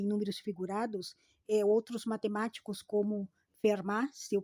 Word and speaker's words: Fermat: E dentro dessa relação também números figurados, outros matemáticos como Fermat, se eu pronunciei corretamente, Gauss também, eles analisaram, estudaram.